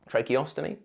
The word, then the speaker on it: tracheostomy: trache osy a TR ostomy I know I pronounced that wrong tracheostomy the one where you cut your throat perform